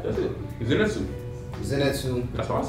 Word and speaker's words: Zenitsu: This time to, I never knew how to say his name, Zenitsu. That's right, that's it. Zenitsu.